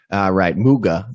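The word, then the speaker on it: Kai Mügge: so let's get into um your investigations of kai moog is that how you say his name muga ze german correct yes and uh you how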